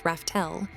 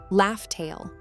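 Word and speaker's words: Laugh Tale: Roger named the island where Joy Boy left the One Piece Raftel, but as we later found out, the real pronunciation was actually Laugh-Tail.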